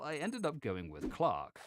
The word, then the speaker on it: Clerk: ended up going with Clark yes Clark which is the sponsor of this video not clerk whilst I often mispronounce things in this case the Cambridge Dictionary agrees with me Clark Clark Clark as